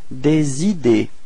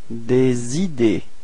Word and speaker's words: des idées: Des idées. Repeat. Des idées. Okay, so final E and final S is are not pronounced as well.